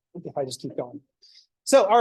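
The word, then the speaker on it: SOHCAHTOA: doing s cosine tangent you could also abbreviate it SOA s o c o c a t o a so that's usually pronounced SOA I don't like that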